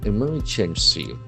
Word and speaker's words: emergency: Emergency. So that's falls on the second syllable.